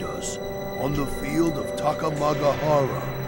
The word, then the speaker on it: Takamagahara: Behind us, on the field of Takamagahara. Takamagahara is how you should pronounce it, but it's okay.